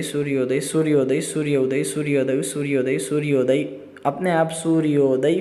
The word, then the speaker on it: सूर्योदय: आप स्वयं देखिए, वर्णों की अत्यंत समीपता अर्थात सूर्य उदय, तो उसको हम प्रोनाउंस करते समय उसके बीच में 1 सेकंड क्या, मिली सेकंड का भी गैप नहीं रखेंगे। आप स्वयं प्रयत्न कीजिएगा। जैसे सूर्योदय सूर्योदय सूर्योदय सूर्योदय सूर्योदय